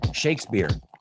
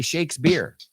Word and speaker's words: Shakespeare: We don't say peer, aunque es una P. Shakespeare.